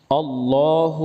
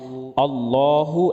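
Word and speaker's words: الله: আল্লাহ শব্দের উপরে খাড়া জবর আছে। আমরা অনেকে আল্লাহ বলি, আল্লাহ বলা যাবে না, কারণ আল্লাহ শব্দে ডানের অক্ষরে জবর বা পেশ থাকলে আল্লাহ পুর করে পড়তে হয়, আর জের থাকলে বারিক করে পড়তে হয়। এখানে আল্লাহ শব্দের ডানের অক্ষরে জবর আছে, সুতরাং লহ পুর করে পড়তে হবে।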